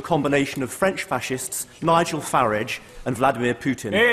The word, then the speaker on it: Farage: of French fascists Nigel farage and Vladimir Putin I'm glad he takes the uh the English pronunciation of farage rather than the rather py foreign sounding one that he seems to prefer I think that's a